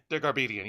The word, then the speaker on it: Dergarabedian: From the I cannot pronounce this fucking guy's last name. Paul Dergarabedian. Dergarbedian, yeah.